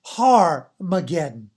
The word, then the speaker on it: Armageddon: one way it's actually pronounced with the h sound so it becomes har mageddon okay but if it's the other way then it's the alpha it's the a it's armageddon okay so we come into